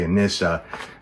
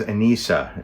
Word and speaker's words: Anissa: particular about that she people would often say Anissa but it was Ana is how she she pronounced the name how the name was pronounced so this is actually